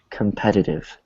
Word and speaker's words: competitive: let's say this word competitive competive competitive good so same thing we have a t between two vows a t between two vowels so here competitive so they're both actually weak competitive competitive comptitive competitive